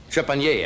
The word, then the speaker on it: Trepanier: lady with some interesting, I want to get her name right, Trepanier, I believe is the way she pronounces her name, with some antique bicycles, an authoress, or author, and what would she prefer?